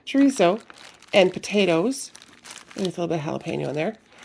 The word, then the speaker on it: chorizo: I'm going to use some, this is the chorizo, I keep saying it wrong, chorizo and potatoes, and with a little bit of jalapeno in there.